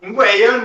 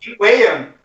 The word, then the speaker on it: Ingweion: Tenemos aquí a Bari de su segundo nombre impronunciable en Twitter, pero que lo ¿Qué podéis... va? Ingüeyon no es tan difícil. ¿Cómo, por favor? Ingüeyon. Ingüeyon.